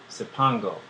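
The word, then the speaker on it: Cipango: distant land which at that time they called sipongo and it's spelled c-i-p-a-n-g-o it goes on to say one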